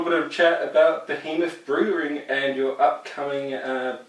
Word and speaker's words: Behemoth: a new Birmingham nickel Behemoth Brewing yeah Americans say Behemoth but it's still Behemoth I'm off for him off but okay but to